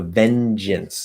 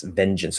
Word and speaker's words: vengeance: a good right vengeance a stress is on the first level second syllable is um it could either be an it or an uh vengeance vengeance um it could